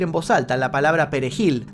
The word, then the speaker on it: perejil: voz alta la palabra Perejil de difícil pronunciación para los haitianos debido a la r del Fran francés claro no sabía que